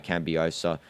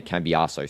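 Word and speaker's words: Cambiaso: received from him by Cambiosa and Terram. or should I say Kambiaso? Sorry, better pronunciation.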